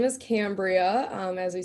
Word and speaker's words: Cambria: pronounce that right, Yeah. Cambria?